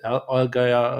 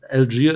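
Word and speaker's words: Allgeier: Um we I said Alga um my prep too. Um Algia is the right pronunciation, right?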